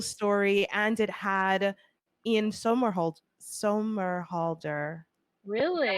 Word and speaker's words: Somerhalder: No, It was a boarding school story, and it had Ian Somerhalder.